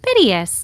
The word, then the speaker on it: piteous: Piteous, like pity. Got it. Pity us.